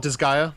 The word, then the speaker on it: Disgaea: I call it Disgaea. Okay. That's how I but- would pronounce it.